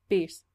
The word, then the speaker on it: Beast: what my name it's Beast rhymes with peace I laughed imagined she